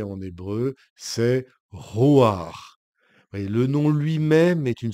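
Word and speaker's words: רוּחַ: Genèse et ce nom je vais vous le prononcer en hébreu c'est roir le nom lui-même est une sorte de souffle roir les les prophète depuis les temps anciens Jésus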